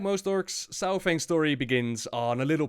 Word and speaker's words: Saurfang: Varrock Saurfang, or Saurfang as it's supposed to be pronounced, is a legend amongst the Horde, and a lot hold him in high regard.